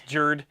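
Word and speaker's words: Jerd: Yeah, it's Jarrod. J-E-R-D. Jarrod. Rhymes with turd.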